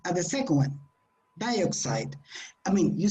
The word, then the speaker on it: dioxide: dioxide the the strong it is not dioxide it is dioxide dioxide dioxide but if